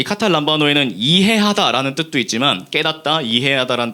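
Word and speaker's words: καταλαμβάνω: 여기서 나오는 이 깨닫지 못하더라 할 때 이 깨닫다를 그리스어 원어로는 카타 람바노라고 읽습니다.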